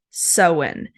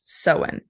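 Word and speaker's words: Samhain: originated from a Celtic Festival that is called seen it's spelled s m a i n but it's pronounced seen so this marked the end of the harvest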